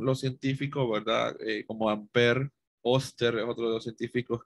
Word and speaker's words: Oersted: Yo digo Oster, va, pero no es, se pronunciará así, ya les digo. El apellido Oersted, Oersted, ¿verdad?, descubrió por accidente que una corriente eléctrica podría ejercer cierta fuerza sobre una brújula.